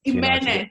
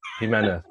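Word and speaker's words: Jiménez: Jimenez, stay with me. Jimenez.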